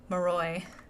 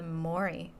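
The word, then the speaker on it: Moroi: last time but um moroy I think I I think I called the Mory in my last episode it' been a while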